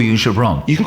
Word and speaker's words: Goubran: By the way, everybody gets my name wrong, so it's actually Gibran. If you want to get it right, like how my mum would say it, Gibran.